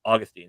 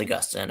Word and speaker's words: Augustine: So for Augustine, not to make a big deal, but it's actually pronounced Augustine, actually.